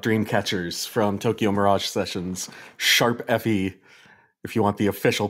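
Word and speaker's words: ♯FE: So I brought Dreamcatchers from Tokyo Mirage Sessions, Sharp FE, if you want the official pronunciation. It's not hashtag, it's sharp.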